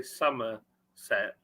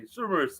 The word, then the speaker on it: Somerset: you live down there you don't say summer set you say soros there hello david